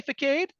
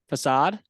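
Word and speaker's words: façade: you know what I mean when I say ficade facade yeah even I would look at that say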